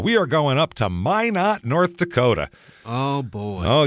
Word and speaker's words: Minot: Minot might be a place like that, and it's Minot, and it's not Minot or anything. It's Minot. That's how they say it.